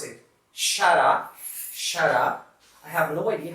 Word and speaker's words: xará: So we pronounce it xará.